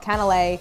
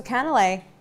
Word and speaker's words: Canelés: It's something called caneles.